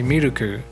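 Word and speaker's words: ミルク: of the education but if you don't pronounce them like in a japanese way they might have trouble let's say for milk you have to say miruku for example or anmon you have to say an mondo stuff like that otherwise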